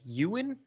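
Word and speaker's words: Eoin: can pronounce this e-o-i-n is it like ewan i mean he's irish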